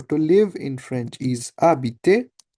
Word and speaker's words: habiter: So I know the verb for, if I search, the verb for to live in French is habiter. H is silent, remember, in French?